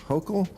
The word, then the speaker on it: Hochul: Uh what do you New Yorkers think of how Mayor Eric Adams and Governor Kathy Hochul Oh. Oh. Yes. Yes, you pronounced it right.